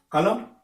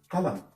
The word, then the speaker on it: column: Vous avez column, column. La prononciation s'arrête sur M.